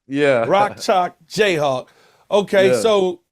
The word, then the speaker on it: Rock Chalk Jayhawk: How you say it? Jock Chalk Rock or something like that? Give it to me. Rock Chalk Jayhawk. Yeah. Rock Chalk Jayhawk.